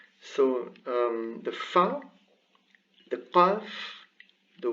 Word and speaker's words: qāf: It's like a K, but it's very backwards in the throat. It goes qa, qi, qu, qa, qi, qu.